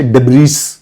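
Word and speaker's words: debris: लियाशी जो डिब्री ये वर्ड होता है इसको हमेशा डिब्रीज़ प्रोनाउंस करती है। Right लियाशी but this is pronounced S डिब्री।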